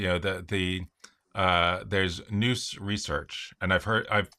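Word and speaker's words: Nous: you know the the uh there's noose research and I've heard I've heard the the people who are in that group um it's new and say you know whether it's new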